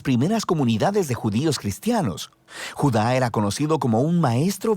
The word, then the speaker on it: Judá: La carta de Judas o más precisamente Judá, de acuerdo con la pronunciación de su nombre tanto en griego como en hebreo.